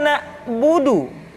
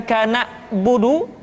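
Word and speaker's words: نعبد: Kemudian perhatikan ketika huruf Ain disukun, maka suara kita tidak boleh mati. Contoh, iyyaka na'budu, bukan kana budu, tetapi agak ditekan sedikit, kana budu, iyyaka na'budu.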